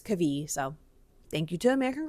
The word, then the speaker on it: Kavi: I was reading and saying Kavi, but it's Kavi.